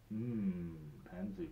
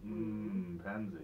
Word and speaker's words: M'Penzi: Yeah, it's a Swahili word.